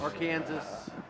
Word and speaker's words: Arkansas: identified the fact that Republican is pronounced the same way in Kansas as it is in Colorado unlike the word AR Arkansas which is our Kansas different in Kansas but but what what